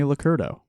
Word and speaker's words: Licurdo: you want to okay it's licurdo right that's correct actually um a lot of people don't pronounce that right so i'm very happy that you did good i don't think i've ever said it out loud before now so i'm glad i got it right most people don't most